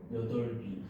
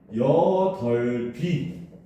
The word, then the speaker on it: 여덟이: 얘는 발음을 어떻게 해야 되겠어? 여덟비. 그치. 얘는 발음을 하면은 여덟비 이렇게 해야 돼요. 근데 학생들은 전부 어떻게 여덟이 하잖아. 그치? 네. 틀린 발음이라는 겁니다.